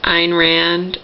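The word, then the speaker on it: Ayn Rand: how to pronounce it Ein Rand or it's not Ryan I was sitting around it's Ein Rand Ein Rand something like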